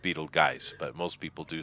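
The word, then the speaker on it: Betelgeuse: just come out somehow you know karmically I Beetle Juice I don't well it's technically Pro pronounced Beetle guys but most people do say Beetle Juice yeah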